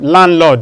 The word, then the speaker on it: landlord: You can also have landlord, not landlord. Landlord. The D is silent too.